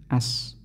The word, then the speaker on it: us: adalah seperti As ya as tulisannya us bacanya as is per nah is